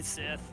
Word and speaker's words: Scythe: Why do you keep mispronouncing it? It's clearly Sith.